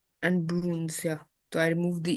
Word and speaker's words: brun: So the masculine form is brun, brun. Okay, then feminine form is brune.